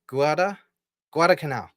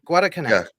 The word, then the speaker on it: Guadalcanal: I don't know how to pronounce it. Guadalcanal. That's it. Oh, Guadal. Yeah, Guadalcanal.